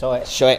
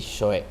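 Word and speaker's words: Shoei: Iya, Shoe. I-nya nggak kebaca. Iya, I-nya nggak kebaca. Jadi Shoe gitu.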